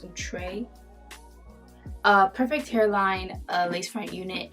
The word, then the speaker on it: Outre: I've been saying Outre, but I think it's pronounced Outre.